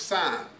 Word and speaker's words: Sin: of Egypt now those the reason that many say is pronounced sign is because it's the Wilderness of sign on the way to Sinai right to Mount Sinai